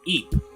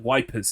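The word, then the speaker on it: Ypres: on a school trip I went to um Eep right for anyone who doesn't know Eep is spelled like wipers the America the English called it wipers in World War one because you know [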